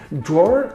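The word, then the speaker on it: דרור: meanings attached to them dwar is pronounced draw in hebrew and it's spelled dalid one of the meanings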